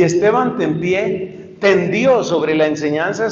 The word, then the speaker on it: Tempier: llama Esteban del pie se escribe tempier Esteban tempiera obismo en París cuando Tomás era maestro y Esteban tempié tendió sobre la enseñanza